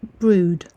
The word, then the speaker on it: Brewood: The name of this village is actually pronounced brood.